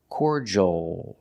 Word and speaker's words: cordial: uh c c and the last sound is the L but it's the dark L with the tongue in the back of the mouth oh cordial cordial cordial the word